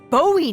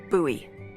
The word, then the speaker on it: Bowie: And then all of a sudden, with no warning, he pulls out this huge rusty Bowie knife. It's actually pronounced Bowie.